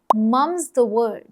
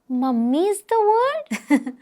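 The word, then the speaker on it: mum's the word: और जब हमें कहना हो कि यह बात राज ही रहनी चाहिए तब हम बोलते हैं मम्स द वर्ड। मम्मी द वर्ड? नहीं सिर्फ मम।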